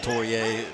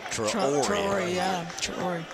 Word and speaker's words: Traore: Or not Torrier, Traore.